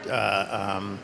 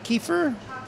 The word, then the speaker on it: kefir: Himika, I've heard about himika. Is that how you say it? Kefir.